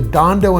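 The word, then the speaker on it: Dhandho: and his book is called the Dondo Investor. It's spelled D H A N D O.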